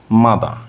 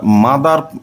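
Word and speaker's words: mother: direct লেসনে চলে যাই মাদা এই শব্দটাকে আমরা মাদার না পড়ে আর টাকে সাইলেন্ট রেখে মাদা পড়বো ওকে তাহলে মাদা বিকাশ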